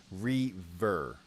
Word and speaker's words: Reaver: Caleb says it is pronounced Reaver.